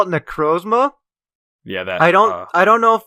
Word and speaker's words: Necrozma: It's Necrozma. Necrozma, interesting. I call it Necrozma.